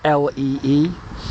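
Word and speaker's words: Lea: Now, interestingly enough, um the river Lee navigation is spelled L E E and the original river Lee which runs alongside it is L E A and um it's the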